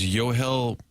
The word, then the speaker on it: Yohel: Is it Yonel? Maybe. I thought it was Well, according to Derrick, it's Yo Hel.